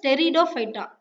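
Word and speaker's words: Pteridophyta: Here B is silent, you have to pronounce this as டெரிடோஃபைட்டா, டி.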